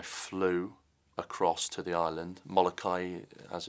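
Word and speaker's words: Molokai: And I flew across to the island, Molakai as it's pronounced, to Oahu is the swim.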